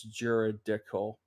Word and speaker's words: juridical: I just wanted to say real quick, the word that that my tongue got twisted on was juridical. Juridical. That's how to say it.